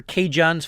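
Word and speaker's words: CaJohn's: spelled c-a-j-o-h-n-s dot com so it's almost spelled like california john's with the abbreviation of california of course is ca or you think of cajun but instead of cajun it's k john and as always i'll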